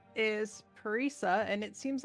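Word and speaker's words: Parisa: not from here well uh my name is paresa and it seems like you guys are in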